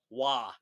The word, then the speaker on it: Roy: Roy. Waugh.